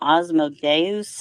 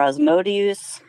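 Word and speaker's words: Asmodeus: well judeo mostly judaism it's called osmo deus i'm not sure if i'm pronouncing it correctly or osmotius it's a-s-m-o-d-e-u-s and he is a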